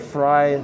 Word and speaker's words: Frey: seven years Mike upweight fry his name is pronounced like his favorite vegetable started curling in 2017